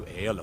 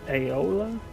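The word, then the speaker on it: Aela: could take this to aella for me that's a good man I did not know that's how you pronounce her name a e l a it aola what is it now if you wish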